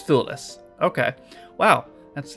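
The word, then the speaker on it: Thewlis: How the hell do you pronounce that name? David F. Let me say David Fool. Yeah, I I've I've got no idea. Let's see. Pronunciation. Okay. Oh, is it foolless? Actually, I might be correct. Let me Let me see. It has it on Google right here. It is foolless.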